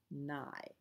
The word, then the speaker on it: nigh: sky all is well safely rest sleep is nigh remember that word means near nai people use it because it rhymes with stuff day is done gone the